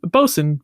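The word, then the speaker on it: boatswain: Lights to you um the boat Swain is like the person on the ship who supervises the crew but over time that word became bosen often spelled b s u n there's also there's a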